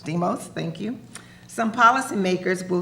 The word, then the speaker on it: Deimos: Deimos. Deimos, thank you.